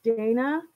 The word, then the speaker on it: Dana: It's Dana, pronounced like that? Okay, perfect. Because I was calling another girl on here Dana, but hers is spelled like the same way, but it's pronounced Dana.